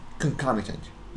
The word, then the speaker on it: concomitant: الوصف اللي ممكن نستعمله كلمة concomitant يعني مرافق. ملاحظ عن البرونسيشن على اللفظ ما بتلفظ concomitant. Concomitant. Concomitant.